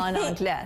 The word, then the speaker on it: en anglais: En anglais. En anglais, yes, exactly. The S is silent. Oh. En anglais, say that.